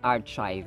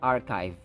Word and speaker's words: archive: truculent truculent archive archive so ch is pronounced as k as in monarchy monarchy this one is archive archive not archive It's archive yada yada Ada a